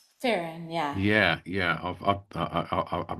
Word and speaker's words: Ferron: Is it pronounced Ferron? Farron, yeah.